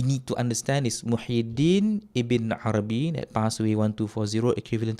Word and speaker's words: Ibn Arabi: wrong, the figure Muhyiddin ibn Arabi. He says Ibn Arabi. His pronunciation is correct without the al.